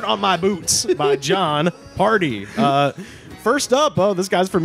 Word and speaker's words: Pardi: The song is called Dirt on My Boots by Jon Pardi, which is spelled P-A-R-D-I, not the fun party.